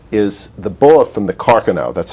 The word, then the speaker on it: Carcano: was very interesting is the bullet from the carcano that's how it's pronounced rifle that's a unique bullet and it